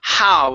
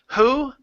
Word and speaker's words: how: The word is how instead of who. Okay, it's how.